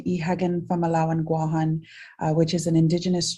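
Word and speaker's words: Guåhan: the island of Guam, the territory of of Guam or Guan as it should be pronounced.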